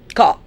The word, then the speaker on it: car: Because when you say car, you don't pronounce the R. Say it, my dear students. You would notice. You would notice that we don't say car. We say car.